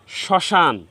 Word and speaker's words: শ্মশান: উচ্চারণ হবে না তবে ম ফালা যে বর্ণের সাথে সংযুক্ত হবে ওই বর্ণের উচ্চারণ সামান্য নাসিক্য হবে হবে ওই বর্ণটি উচ্চারণ